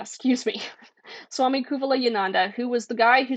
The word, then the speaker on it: Kuvalayananda: I always mispronounce this. I'm sorry. Kuvala Kuvalayananda. Excuse me. Swami Kuvalayananda, who was the guy who sort of rationalizes